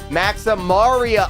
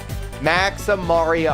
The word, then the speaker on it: Maximaria: Maxaria art. Thank you. Thank you for correcting me. I I insist that you guys do that because I want to make sure that I'm saying it right. Maximaria art.